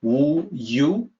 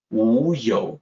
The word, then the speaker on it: 无有: The pinyin looks like wu yu, y-o-u, but that's actually yo. Wu yo is the correct sound.